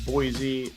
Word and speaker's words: Boise: You're saying Boise right. You did it. Hey, there is a little bit of your Eastern. The Z slips in at times, but you're close. Like you're really close to saying it right.